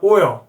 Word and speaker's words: oil: 오일 하지만 oil. 에어 발음이요. 조금 이게 코맹맹이 소리가 나야 돼요.